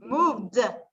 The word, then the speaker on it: moved: Moved, ¿verdad? Con esa D al final. Moved. Acuérdate, cuando pronuncias la D, la E es silenciosa en todas estas.